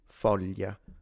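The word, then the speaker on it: foglia: the way they render the GL sound. In standard it's a it can be difficult familia folia that's standard and it's commonly natively spoken like this in center north. So like Tuscanany Rome that's how they say it. If you go south like this speaker and me natively, we simplify it into a Y. So it becomes Y mo. It's like a Y.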